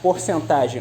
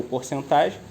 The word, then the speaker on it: porcentagem: se estende também a porcentagem ou percentagem Lembrando que essa palavra tem uma dupla pronúncia eu posso falar percentagem ou porcentagem as duas possibilidades estão corretas voltando porcentagem ou percentagem